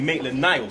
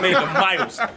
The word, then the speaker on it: Maitland-Niles: It took you 6 months to actually say Ainsley Maitland-Niles, not Maitland-Miles.